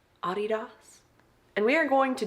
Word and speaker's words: adidas: blanket is from overstock this sweatshirt is adidas or pronounce correctly ah DDoS and we are going